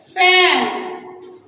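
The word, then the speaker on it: phone: जैसे फैन, फैन, ये इसका कॉमन स्पेलिंग है, लेकिन अल्टरनेटिव स्पेलिंग देखें तो पीएच मिलके भी फ की साउंड प्रोड्यूस करेगा।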